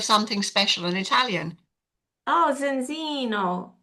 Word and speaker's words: Zinzino: learn more about this It's How do you pronounce it? Zinzino. Do you know what it means? It means a little bit of something special in Italian. Oh, Zinzino. Zinzino.